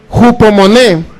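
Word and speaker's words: ὑπομονή: homon así como se se escribe o se pronuncia jupo moné que significa constancia también No nada más paciencia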